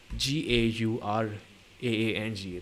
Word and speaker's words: Gaurang: Gaurang is Gauraang. That's the only way to pronounce Gaurang.